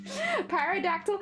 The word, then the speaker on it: pterodactyl: Pterodactyl. I think the P is silent.